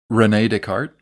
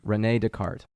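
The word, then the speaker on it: René Descartes: by uh Descartes to uh how do you pronounce his name because I was saying it wrong Renee Descartes Renee Descartes okay um and he said divide each difficulty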